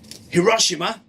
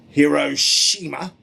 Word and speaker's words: Hiroshima: a uranium bomb on Hiroshima or Hiroshima two pronunciations same city in Russia they dropped